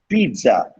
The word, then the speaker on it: pizza: Okay, next, pizza. நீட்டி சொல்லணும் அந்த second syllable. Pizza. Pizza. Pizza. Pizza. Never say pizza. சாப்பிட்டேன் நான். Pizza. Wrong.